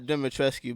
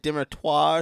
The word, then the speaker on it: Dimitrescu: I don't know how to say her name because it's not Dimitrescu, but everybody says it. It's like Dimitroir or some French shit.